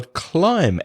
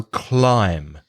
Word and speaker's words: climb: climb and claim well climb escolar CLI B the B is silent you don't pronounce it and the vowel sound is I in the same as I why try my so climb the other word wreck